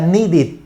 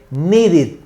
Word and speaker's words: needed: Si la base del verbo termina en T o en D, entonces se pronuncia it. Por ejemplo, aquí cuando digo need termina en D, ¿no, verdad? Entonces la pronunciación cuando le agregamos la ED sería needed, ¿ok?